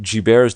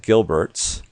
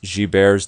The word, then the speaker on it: Gilbert: most common disease is this thing called guilt G bares disease it looks like Gilbert's but it's pronounced bears disease believe it or not this condition which